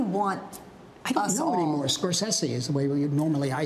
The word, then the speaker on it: Scorsese: how do you want I don't know anymore scorsi is the way normally I say it thank